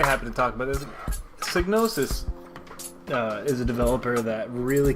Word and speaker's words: Psygnosis: Psygnosis. The P is silent.